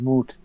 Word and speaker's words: moot: Americans can't even pronounce the word moot. Moot. They pronounce it mute.